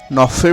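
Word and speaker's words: neuf: নফের বানানো এফ রয়েছে, এফ এর উচ্চারণ করতে হবে, নফ।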